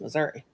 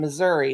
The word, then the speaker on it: Missouri: We just called it Southern because we are in Southwest Missouri.